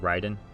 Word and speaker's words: Raiden: they weren't wrong like ryden yeah i'm saying like ryden because writing is how you would say it in japanese it's r-a-i but i want to